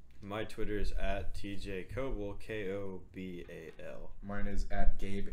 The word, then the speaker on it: Kobal: My Twitter is at TJ Kobal, KOBAL. Mine is at Gabe H. Journalist. If you find one of us, you'll find all of us. Yeah, more or less. And it's not pronounced Cobal.